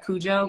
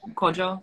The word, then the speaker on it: Kojo: own thing so like there's kojo like you might have heard Cujo but it's like kojo is how it's pronounced um and um and